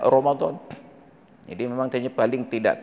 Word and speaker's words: Ramadan: Tapi bacanya wajib Allah sedangkan Romadhon memang tertulis r a m a d a n Ramadan tapi dibaca Romadhon jadi memang kayaknya paling